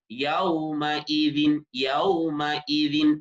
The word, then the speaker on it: يومئذ: യൗമൈ പല ആളുകൾക്കും യൗമഇദിൻ എന്ന് പറയുന്നത് യൗമഇദിൻ എന്ന് പറഞ്ഞു പോകും. യൗമഇദിൻ, അതായത് ഈ എന്നതിന് പകരം ഹംസക്ക് പകരം യാ വന്നു പോകുന്ന ഒരവസ്ഥ ഉണ്ടാകും. അത് ശ്രദ്ധിക്കണം. യൗമഇദിൻ എന്ന് ഉച്ചരിക്കണം.